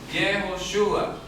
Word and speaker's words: Yehoshúa: todo nombre el nombre de yoshua esto se pronuncia jehoshua Y esto es el nombre yh que la